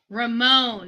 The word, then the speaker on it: Ramon: This is Ramon Preciado. Ramon. They say his name is pronounced Ramon Preciado. Ramon.